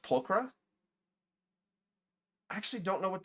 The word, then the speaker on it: Pulchra: Pultra or is it pronounced Pulcra?